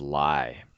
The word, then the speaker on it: Lyi: in the Oracle series his name is lie it's kind of like a lie you might tell right but it's spelled differently it spelled lyi instead of Li so I'm not gonna